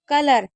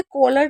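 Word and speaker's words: colour: कलर, देखिए इसे कॉलर नहीं पढ़े क्योंकि कलर में ओ साइलेंट रहता है, इसलिए इसे कलर से ही पढ़ा जाएगा।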